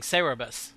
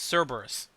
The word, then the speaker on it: Cerberus: pronunciation of cerberus because she was saying cerebus i'm like not cerebus it's cerberus and someone's the